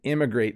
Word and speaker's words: immigrate: Emigrate starts with kind of a hard E, emigrate, and immigrate starts with an I.